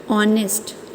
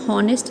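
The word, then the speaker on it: honest: ठीक है, अब ऑनेस्ट, देखिए एच है लेकिन हम इसको प्रोनाउंस कैसे कर रहे हैं? ऑनेस्ट। इट मीन्स हमारी कौन सी साउंड आ रही है? वॉवल साउंड आ रही है। हम हॉनेस्ट नहीं बोल रहे हैं, हम ऑनेस्ट बोल रहे हैं, तो एन ऑनेस्ट।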